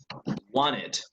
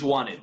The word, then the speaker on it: wanted: they when they in any verb that ends in a tea or a nerdy you need to make the e sound otherwise you don't so yes for this